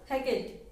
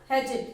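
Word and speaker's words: hatchet: ठीक है, अब सेकंड देखो, बरी द हैकेट। बरी द हैचेट, इसको जब पढ़ेंगे और ये टी साइलेंट रहता है।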